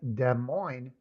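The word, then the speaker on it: Des Moines: m o i nees, but that's de mo. No s on either of the two words.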